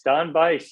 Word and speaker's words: Don Bice: able to connect with Don Bice is that how you say his name done by yes Don Bice yeah Nile's first cousin